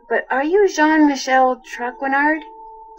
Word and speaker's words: Traquenard: I'm sorry to bother you, but are you Jean Michel Traquenard?